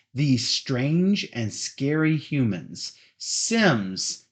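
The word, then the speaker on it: CYMS: Sims. C-Y-M-S. Big C, little y, big M, big S. And it's pronounced Sims.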